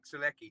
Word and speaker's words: Sulecki: His second fight under Matchroom Boxing, Maciej Suleshi. Is that how you pronounce his last name? The If undefeated you're Polish posting, fight. yeah, Maciej Sulecki, 26-0.